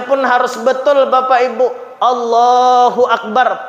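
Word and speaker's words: الله أكبر: harus betul Bapak Ibu Allahu akbar pakai Alif pakai Hamzah jangan jadi wau Allahu akbar ah salah ya maka anak-anak kita ini kita Ajari kita perhatikan kita awasi Bacanya apa Allahu Akbar Akbar jangan wakbar dan juga bnya jangan panjang nanti teajaja panjang salah Allahu akbar terus lain arti bukan Allah maha besar Allah jadi gendang ah maka gak boleh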